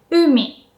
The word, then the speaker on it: umi: You can kind of hear that u is pronounced with a high pitch. You don't put too much stress. But if I have to exaggerate it, it would sound like umi.